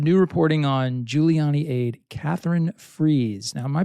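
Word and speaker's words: Katherine Friess: heart I'm gonna say Catherine freeze like you know freeze out sort of thing okay so new reporting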